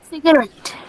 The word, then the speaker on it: cigarette: Cigarette. Cigarette. Cigarette. The stress is on ret.